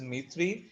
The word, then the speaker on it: Dmitry: ठीक है, यहाँ पे D जो है वो साइलेंट है. इट इज Dmitry Ivanovich Mendeleev.